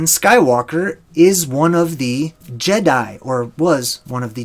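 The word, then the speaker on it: Djedi: The D is sort of, you know, it's become silent in our day and age today, but it's J, the Jedi.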